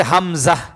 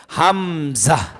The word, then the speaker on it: হামজা: হার পরে হচ্ছে হামজা। হার পরে কি? হামজা। উল্টা দুইয়ের মতো দেখা যায়, দেখেন। এই অক্ষরটার নাম হচ্ছে হামজা। বলেন হামজা। আবার বলেন হামজা। আবার বলেন হামজা। হামজা হলকের শুরু থেকে উচ্চারণ হয়।